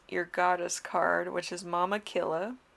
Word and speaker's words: Mama Killa: goddess card which is mama killa or more tequila her name literally is that pronunciation in inca so she was the